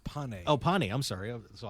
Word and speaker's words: Pane: It's not pain. It's actually pronounced pane. Oh, pane. I'm sorry. So, I was wrong twice. That's okay. Wow. But everybody says Payne, so that can fly.